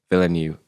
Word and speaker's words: Villeneuve: the way for a rival and how like villain you is how you pronounce it yeah philony how he's like incorporate